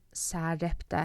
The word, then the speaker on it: Sarepta: And then Sarepta has a normal S sound, not the American Z, Zarepta.